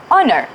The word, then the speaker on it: honor: the first question is what is similarity of pronunciation in these two words night and honor we don't say the first letter that's exactly what